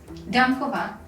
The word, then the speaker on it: Dankova: Dankova.